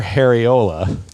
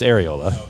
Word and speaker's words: areola: She showed us her Hariola. as opposed to her Ariola. He just mispronounced areola That's what it was.